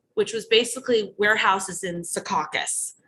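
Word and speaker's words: Secaucus: was basically warehouses in Sukakus, New Jersey, which is the town like Sumpta, where you have to say it and sound southern. Sukauakus, you sound like you're from Jersey. no matter how you say it.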